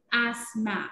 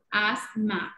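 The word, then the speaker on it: asthma: una enfermedad muy común es el asma ok asma así se pronuncia esta tía es como silence y sólo suenan asma miren chicos es el asma vamos a ver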